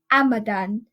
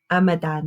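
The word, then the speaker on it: amadan: and garlic go okay male is pronounced ammidon ammidon it's very easy to understand how you would spell it a a em a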